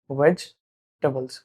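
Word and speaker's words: vegetables: ये जो वर्ड है ना इसमें दो सिलेबल है। मतलब इसका प्रोनन्सिएशन होना चाहिए। वेज टेबल्स।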